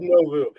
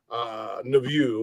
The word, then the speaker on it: Nouveau: Club Novu.